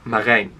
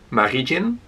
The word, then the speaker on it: Marijn: So my name is pronounced Marijn, with the I. But for every other country in the world, they don't have that. So I had variations of my name from like Marygin, which is the most common because that's how it is spelled.